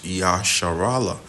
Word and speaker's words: Israel: Because these are supposed to be your true princes, because the word Israel, or the true Hebrew pronunciation of it is Yasharala, which that Yah means